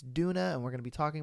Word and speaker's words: Doona: came out on Halloween I said the name wrong I said kuna or something like that it's Duna and we're gonna be